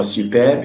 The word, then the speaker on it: superbe: For example, recommence, this word there, recommence, the E there is pronounced, but for superbe, it's at the end of the word, is not pronounced.